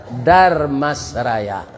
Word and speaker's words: Darmasraya: Supaya jan patah lidah membacanya ditambah jo R, Darmasraya.